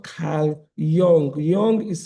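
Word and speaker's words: Jung: are all based on a psychologist called Khal Young. Young is spelled with a J u n g.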